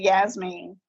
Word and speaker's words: Yasmine: And then and then Yasmin, of course we pronounce it Yasmin, is a spin-off of jasmine, which basically is a beautiful flower in Arabic.